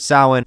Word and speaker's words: Samhain: abbreviation of the word Samhain, which is spelled in a way that if you tried to pronounce it outright, you would sound like Dr. Loomis from Halloween 2.